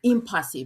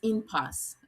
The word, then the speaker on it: impasse: So I have been pronouncing impasse, please. The correct pronunciation is impasse, okay?